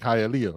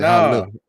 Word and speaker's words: Hialeah: Yeah, because you can't even say like Hialeah, right? You gotta say Hialeah.